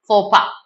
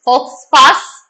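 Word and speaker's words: faux pas: answer and that is fopa that's what our answer here is going to be by the way it's not pronounced as folks pass it's for okay this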